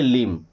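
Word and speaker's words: limb: एल आई एम बी। यहां भी बी हो जाएगा। साइलेंट और क्या पढ़ेंगे? लिम।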